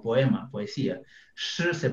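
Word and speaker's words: 诗: Shi se pronuncia.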